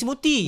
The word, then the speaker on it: Murty: No, generation baru sekarang kenal Murty is Murty. Murty. It's Murty now. Sebab Murty lagi senang, you know, it rhymes with tak ada kaki.